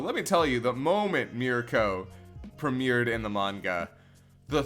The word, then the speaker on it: Mirko: yes it's yeah Mirko that I mean that's how it's spelt even by you know the like and everything that I've seen it's just mi RKO so I'm saying Mirko not medical but yeah oh man